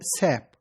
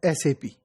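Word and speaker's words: SAP: है कि एसपी generally some time people use the word सप यह सप नहीं है इट is pronounced as एसपी इट इज a German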